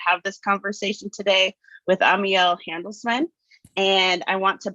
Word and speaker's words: Amiel: And my name is Amiel. People often ask, how do you pronounce it? It's 3 syllables.